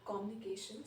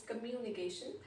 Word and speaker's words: communication: People say communication sometimes, so it's communication.